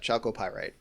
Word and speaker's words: chalcopyrite: Chalcopyrite. I'm going to say that. Chalcopyrite. Yeah, chalcopyrite. Unless that CH is pronounced real weird.